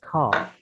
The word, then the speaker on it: car: අපි උදාහරණයක් විදිහට car. car කියන එක CAR pronunciation එක දිහා බැලුවම අගර එකක් තියෙනවා.